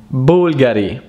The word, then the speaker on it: Bulgari: versace another one is bulgari bulgari bulgari it's bulgari bulgari bulgari bulgari then we have the last